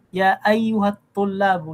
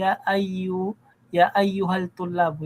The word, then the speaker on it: يا أيها الطلاب: Kumbaga, didiretso ka na sa ta. Wag mo na bigkasin yung lam. Ya ayyuhat tullabu, hindi ya ayyuhal tullabu, hindi ganoon. Ganoon din sa waktubul darsa, mali.